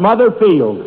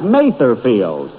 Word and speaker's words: Mather Field: Day and we're at mother field that's uh that's Mather field and although I pronounced it wrong last week I and speaking